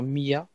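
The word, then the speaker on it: مئة: Souvent, Mi'a, c'est prononcé avec un ie en disant Mi'a.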